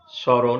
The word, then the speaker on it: স্মরণ: প্রথম নিয়ম, আদ্য ম ফলা অনুচ্চারিত থাকে এবং ম ফলা যুক্ত ব্যঞ্জনের স্বরধ্বনিটি সামান্য নাসিক্য প্রভাবিত হয়ে ওঠে। যেমন স্মরণ, এখানে দন্তস্বয় ম ফলা ছিল, এজন্য এখানে নাসিক্য প্রভাবিত হয়ে চন্দ্রবিন্দু হয়েছে তালবস্যার ওপরে।